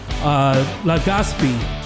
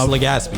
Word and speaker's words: Legaspi: We have Legaspi. Legaspi. Legaspi. That's how you say it.